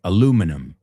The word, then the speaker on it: aluminum: Aluminum. But you can also call it tin. Right? Más fácil. De hecho los británicos dicen aluminium y nosotros decimos aluminum.